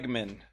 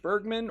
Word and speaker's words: Bregman: Bregman. Not to be confused with Bergman or Burgerman, as Jack of all nerds would say.